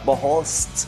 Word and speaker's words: Boholst: Let's welcome Charly Suarez at ang kanyang dating teammate ngayon, coach/manager, Coach Delfin Boholst. Coach, medyo social yung apelido mo eh. Tama ba yung pagbigkas ko? Boholst. Yes sir, tama po yun, Boholst.